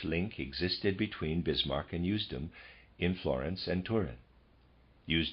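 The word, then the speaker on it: Usedom: and that's readers aside that's spelled u-s-e-d-o-m i'm going to pronounce that houston end of readers aside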